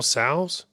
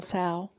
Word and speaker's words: Tso: General Sal's, General Tso.